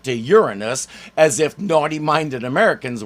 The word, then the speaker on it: Uranus: didn't go with Uranus yes we pronounce it like that until 1986 when Voyager 2 flew past the planet and news anchors had to say it out loud they not so subtly tried to change it to Uranus as if